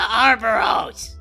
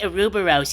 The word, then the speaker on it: Ouroboros: The Arboros. It's pronounced Ouroboros, Kain.